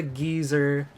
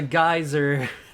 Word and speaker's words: geyser: to call it a geezer it's a geyser not a geezer geezers are old people you want to know